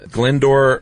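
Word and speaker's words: Glyndwr: So they got Bentley Purchase and he said, "I've got a dude um his name is uh Glendor Michael." Yeah, that is not how that's spelled either.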